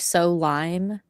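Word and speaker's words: Solime: I named mine Solemn, which is so Oo. It's like so lime. S O L I M E. And so it automatically wanted to say so lime.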